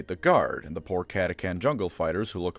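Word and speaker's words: Katachan: guard and the poor Katakan jungle fighters who look like they spent around too many in the ring with Ivan Drago. This of course has it. Wait, it's Katakan, not Katachchan?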